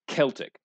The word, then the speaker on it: Celtic: for these Celts yes the people are called Celts the adjective is pronounced Celtic don't ask me why and no one